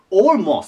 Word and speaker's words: almost: なあと A なんであって発音行きたくなるんですけどおですオモと言います all most まさの